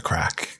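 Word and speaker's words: craic: It's spelled C-R-A-I-C, by the way. The Irish call it the crack.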